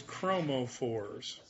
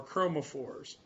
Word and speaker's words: chromophores: are referred to as chromophores. And that word, I'll spell it for you. I'm away from the board. But it's CHROMO. That's chromo. Phore. PHORE. And that literally means color carrier.